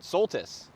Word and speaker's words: Soltys: But welcome to episode 15 of Trash Talk with special guest this week, Jason Soltys.